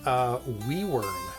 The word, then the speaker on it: Wyvern: It's pronounced Wyvern. Really? Where? W-Y-V-E-R-N. Wyvern. Well, it depends on what language. Yeah. Because there's some languages the V is a W.